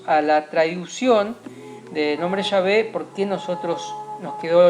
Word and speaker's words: Yahvé: Por otro lado, tenemos los testimonios de los samaritanos del siglo V a.C. que sí pronunciaban el nombre de Dios como Yahvé, ¿sí?